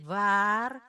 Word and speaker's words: waar: War, dibuka mulutnya lebar karena what di sini a-nya pendek, sedangkan di sini 2a jadi war, harus jelas karena pengucapan itu sangat penting di dalam bahasa Belanda.